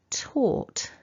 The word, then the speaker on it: taught: There's no G happening in this word.